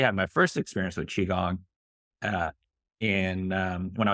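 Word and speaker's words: qigong: about they're like it's all kinds of funny pronunciations but yes chiong I um actually had my first experience with chiong uh in um when I was young when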